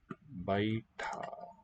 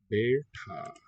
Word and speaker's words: बैठा: It's that one spelled with the diphthong, B-A-I. Be, more open. Ta. The retroflex, aspirate, capital T-H, long A.